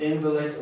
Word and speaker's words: invalid: Jeżeli zaakcentuję tutaj słówko na drugą sylabę, będę miał do czynienia z przymiotnikiem, oznacza nieważny, natomiast invalid oznacza niepełnosprawny.